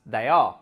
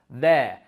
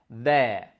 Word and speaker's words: they're: We saw that all three students pronounced the contracted form of they are as they are, when they should have pronounced it as there. And looking at the pronunciation carefully, all of these words are pronounced as if it was th and then air, there.